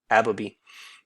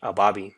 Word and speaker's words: Ababiy: eddie hearn signed uh nikita ababi that's how they were pronouncing it originally i've been i've been pronouncing it about abbabi but uh last time uh on his fight there in oklahoma they were pronouncing it a bobby so i'm going to go with the bobby for now nikita ababi nine and